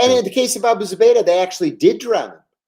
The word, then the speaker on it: Abu Zubaydah: Abu Zubaydah.